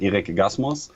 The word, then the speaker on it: Erik Gaßmus: I should maybe pronounce it in German, Erik Gaßmus.